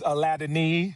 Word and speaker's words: Aladeniyi: My last name is Aladeniyi. You spell it Aladeniyi.